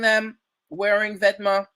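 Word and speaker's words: Vetements: The word is pronounced vêtements, first of all.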